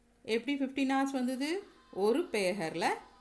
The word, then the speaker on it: पहर: பேஹர்னு தான் ப்ரொனவுன்ஸ் பண்ணணும். இங்கே பஹர்னு எழுதியிருக்கு. பிகாஸ் இந்த பக்கு அடுத்த லெட்டர் ஹ இருக்குது. ஸோ ப வந்து ஏ சவுண்டாக ப்ரொனவுன்ஸ் பண்ணணும்.